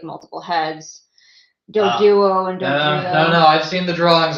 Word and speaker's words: Dugtrio: Dugtrio. They spelled it with an I, but sure, I'll pronounce the I with the U.